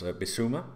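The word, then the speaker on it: Bissouma: in the leon playmaker in brighton's bisuma is how he pronounced his name with strong links with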